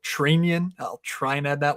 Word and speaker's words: Trenin: Yakov Trenin, which, by the way, I think it's Trenian. I think the announcers are properly pronouncing his name for Minnesota, so Trenian.